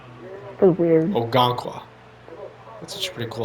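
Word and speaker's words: Okonkwo: Okonqua. That's how you pronounce his name. Feels weird. Okangwa.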